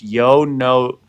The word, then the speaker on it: Yono: for that no shade no one gets it right it's Yono Yono Yono Yono Yono